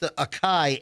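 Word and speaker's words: Akay: And then the update is the two brothers, I guess it's pronounced Akai, A-K-A-Y, they were seen being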